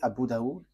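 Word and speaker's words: Abu Dawud: So in that hadith there are few books and in these books there is a writer uh Sah Abu Dau. So it is spelled s a h i h s a h i h.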